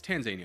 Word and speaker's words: Tanzania: It's Tanzania. I'll remember how to spell it and talk about it in the game.